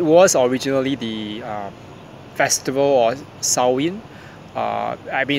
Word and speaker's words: Samhain: It was originally the festival or Sow-in. I mean, it's pronounced as Samhain by some people, but it's actually Sow-in according to the Celtic pronunciation in the Celtic, Irish Celtic tradition.